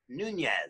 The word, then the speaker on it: Nuñez: And our extra special guest is right over there, and her name is Alex Nunez. Is that pronounced right?